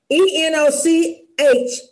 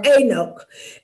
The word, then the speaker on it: Enoch: in the book of anoch e n o c h Enoch or anoch and um and uh